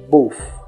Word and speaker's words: both: Para pronunciar a palavra both, sempre que tiver o TH, você irá pronunciar com a língua entre os dentes e soltar com o som de F bem fraquinho no final. Neste caso, você irá soltar com o som de F, ficando both.